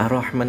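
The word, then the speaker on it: الرَّحْمٰن: bedanya diawali dengan a maka suara a-nya tetap tipis ya a a a gitu ya jangan ar tapi Ar terus jangan lupa Huruf rnya tebal ya yang tebal huruf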